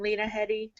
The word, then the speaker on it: Lena Headey: There's I hope I'm saying her name right from Game of Thrones, Lena Headey. Is that how you say her name, Lena Headey?